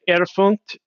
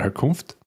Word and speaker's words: Herkunft: Erfunkt is the word for origin. So that the section titled Erfunkt is where. I'm sorry, I'm saying that backwards. Herkunft. Is that? Am I getting close to the pronunciation, Clay?